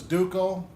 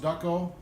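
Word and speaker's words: Duco: some do kösem at the old-timers call this duke oh I've heard of pronounced duck oh I'm gonna go look the old-timers say Duke Oh put a bead on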